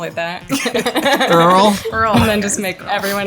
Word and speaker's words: IRL: Is it pronounced IRL or in real life? Do we know? It's Earl.